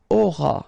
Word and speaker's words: auras: Alright, then tu auras, final S not pronounced, aura.